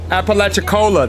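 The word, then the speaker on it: Apalachicola: Appalachiccola. That's how you pronounce it.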